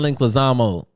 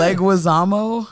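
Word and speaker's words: Leguizamo: The one with John Linquazamo.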